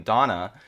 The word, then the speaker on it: Donna: It's not just the last name, but her first name Donna. It's not spelled the same way, but it's basically pronounced the same way, more or less, as the German word for thunder. Uh, Donner.